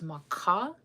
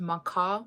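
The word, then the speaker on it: makȟá: Um, so the word for earth in Lakota is maka and you have to say with the guttural you have to put the stressor on the end. So it's ma. But if you say just maca without like the guttural, you're saying skunk.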